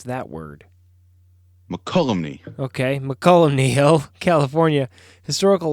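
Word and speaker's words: Mokelumne: The IOOF Hall in Mokulumne? I don't know. You spent some time in California. How do I pronounce that word? McCollumney.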